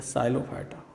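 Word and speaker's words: Psilophyta: Number 1 class सीलोफाइटा या P silent है या साइलोफाइटा।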